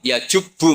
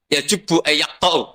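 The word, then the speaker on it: يجبّ: Terus Nabi ngentikan, "Alislamu yajubbu ma qoblah." Itu bacanya bukan yajibu tapi apa? Yajibu lah kalau pas ini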